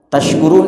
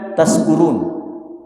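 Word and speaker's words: تشكرون: Tasykurun itu yang betul adalah tasykurun bukan taskurun.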